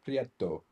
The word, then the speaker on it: Prieto: And this is the one I chose, which is by Natalia Garcia Prieto. Rhymes with Mexico.